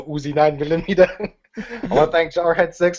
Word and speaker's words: UziNineMillomeetah: You gotta say it right, like the Terminator, the UziNineMillomeetah.